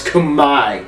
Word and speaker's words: Khmer: camera and cambodian right no it's kamai the r is silent and the e is an eye the cambodian language is